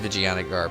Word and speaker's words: Vijayanagar: Even though it's Vijayanagar, but it's funnier when it's said when it's pronounced Vaginagar.